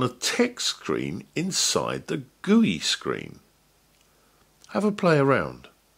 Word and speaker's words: GUI: is reduced to G you I which is pronounced GUI to start a GUI on the PI we